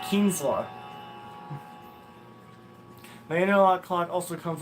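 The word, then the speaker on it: Kienzle: I always used to call Kienzla a Keinzel because I can never pronounce it correctly. And then Snow pronounced it once, and I picked it up immediately. I was like, it's Kienzla.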